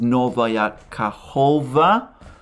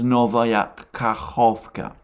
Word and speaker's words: Novaya Kakhovka: I have been omitting by accident the last K.